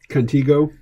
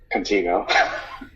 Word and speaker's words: Contigo: one as well although I insist that that I be readed is a long e how so Contigo Contigo I heard someone say